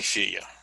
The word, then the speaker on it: filles: La fille, the girl, becomes les filles, the girls. Like, once again, you don't pronounce the yes in the form.